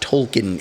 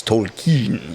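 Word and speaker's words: Tolkien: pronunciations where it's not it's not tolken it's Tolen Tolen you know Christoph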